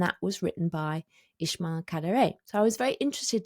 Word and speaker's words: Kadare: Then I also went to Ismail Kadare's, in fact it's Kadare because the stress is on the last syllable, I learnt that, his house.